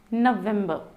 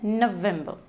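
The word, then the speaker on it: November: इट्स अक्टूबर, अक्टूबर, नवंबर, न पे हमें जोर डालना है, नवंबर, दिसंबर, इट्स दिसंबर, ठीक है।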